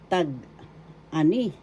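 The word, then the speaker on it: tag-ani: in English harvest time tag an first syllable tag second syllable a third syllable ni the accent is in the third syllable tag an tag an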